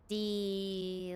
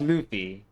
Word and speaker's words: Luffy: So monkey duffy Luffy. Am I right, Vincent? Luffy. Yeah, but it's pronounced Luffy.